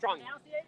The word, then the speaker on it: Tran: I know it's Van Tran, but what's the correct pronunciation of Vietnamese? Tran is Trong. Is Trong, right? Trong. Yeah, Trong.